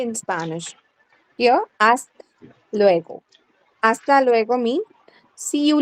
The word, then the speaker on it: hasta luego: Here, hasta luego.